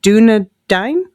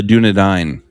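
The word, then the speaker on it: Dúnedain: for us, starting with the community volunteers, the Dunedain? Yes, the Dunedain.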